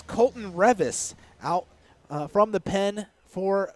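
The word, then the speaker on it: Reavis: a v i s looks like it should be Ravis or revas but it's not it's Revis at least that is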